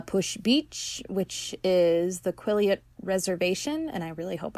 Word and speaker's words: Quileute: down to La Push Beach, which is the Quileute Reservation, and I really hope I pronounced that right. Yeah, it's Quileute.